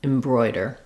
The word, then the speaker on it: embroider: where it's not stressed for example in a word like decide or return these are the if I'll decide return same thing in embroider so if the Bro gives you difficulty you can start from the oi and build from there trying oi Roy broy also just remembering the word boy or toy um the boy liked